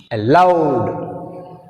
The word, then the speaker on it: allowed: Allowed. Allowed. In this word we have two syllables. A is weak prefix. That's why we have stress on second syllable L.